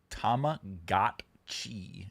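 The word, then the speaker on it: Tamagotchi: Um, Tama Gotchi is the only correct pronunciation.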